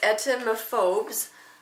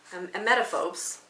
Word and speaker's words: emetophobes: It says etemophobes, emetophobes, because that's how you say it, might restrict their diet, avoid eating out, and even prevent pregnancy.